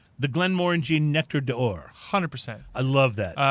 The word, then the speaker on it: Nectar d'Or: I had their assistant master distiller on, Brendan McCarran, on my show, and how did he pronounce it? Nectar d'Or. Nectar d'Or.